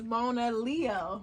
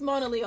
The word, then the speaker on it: MONALEO: But it's MONALEO, like Mona Lisa, but scratch off the Lisa.